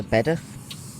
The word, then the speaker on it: Bedworth: You don't pronounce the W. Same for Bedworth, Bedworth, Curdworth. Anywhere with WRTH at the end.